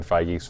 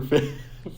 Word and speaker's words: Feige: It's not Kevin Feige or Feige? It's Kevin Feige.